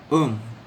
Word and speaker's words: homme: Homme, H-O-M-M-E, homme, is the word for man. Because it begins with an H, it is silent, and so LE becomes L apostrophe.